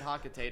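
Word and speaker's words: Hocotate: pocket tape Freight yes I pronounce it hakatate I don't care what thank you nobody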